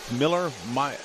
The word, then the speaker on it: Mueller: Although Harold says, Harold, we need to go to Louis Mueller. I got friends back home that name is pronounced Miller.